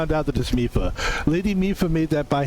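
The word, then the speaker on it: Mipha: Sidon continues, the fact that this armor fits Link perfectly should be proof enough that Mifa, because we finally know how to say her name, made it for him and him alone.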